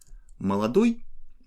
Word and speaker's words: молодой: Молодой has stress on ой, and based on this initial form we can build all the other gender and quantity specific forms of this adjective.